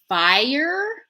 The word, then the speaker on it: fire: Canadian or American English the word fire is two syllables it looks like one syllable because of the spelling right fire right you think it's going to be but in our accent fire just like the word buyer right flower if we're